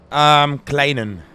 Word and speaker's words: Kleinen: Am I saying it right? Kleinen. Yeah, Kleinen. Yeah, that was perfect.